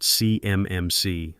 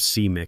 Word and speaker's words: CMMC: He called it CMMC letter by letter like a kid sounding out a word instead of seem as a single designation.